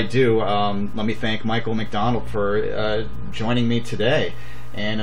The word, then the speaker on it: McDonald: And on Facebook, I am McDonald. My first name is spelled M-I-C-A-H. Last name, just like the restaurant.